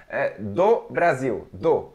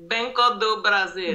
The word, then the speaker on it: Brasil: again banco d brazil okay yes actually just brazil brazil there we go yes you got it this